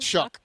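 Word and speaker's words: Shough: You guys look at look at Tyler Shuff. Shuck. How do you say his name? Shuck.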